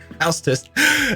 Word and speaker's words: Hau5test: I'm like, just like the English would have house. It's the same. Hau5test.